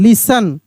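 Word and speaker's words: listen: patient L आई एस टी ई एन लिसन ओ एफ टी ई N often C ए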